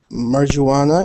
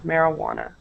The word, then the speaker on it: marijuana: brought 50 kilos of Marana into the country okay very good so um only wanted to point out your pronunciation of marijuana marijuana yeah okay um so